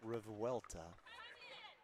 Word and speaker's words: Revuelta: We've got Lauren Mercado on the serve alongside Brooke Revuelta. Okay. I checked for pronunciation. It's fairly correct, Revuelta.